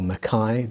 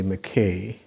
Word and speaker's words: McKay: the name of claude mckay or makai depending on who you i think the scots say mckay and jamaicans tend to say makai and they were quite